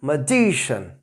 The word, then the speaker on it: magician: So here I have written magic and the pronunciation will be magician. So word stress will come here.